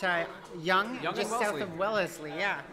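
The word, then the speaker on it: Wellesley: young just south of wellesly yeah is that how you pronounce it wellesly or Wellsley well fine the locals call it Welsley the locals it's like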